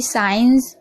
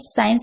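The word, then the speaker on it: sign: यहां पर देखिए एन से पहले जी है तो जी साइलेंट है।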